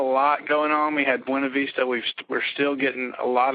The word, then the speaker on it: Buena Vista: Buena Vista. Buena Vista. There you go. First time it's ever been pronounced correctly on this radio show.